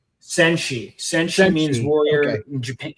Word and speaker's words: Senshi: How is that pronounced? Phoenix what? Senshi.